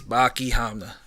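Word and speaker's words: Baki Hanma: His name is Baki Hamna. I'll spell it for you. Bakihanma.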